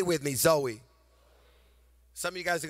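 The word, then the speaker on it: ζωή: eternal life is a greek word and it's pronounced zoe say with me zoe some of you guys are gonna go home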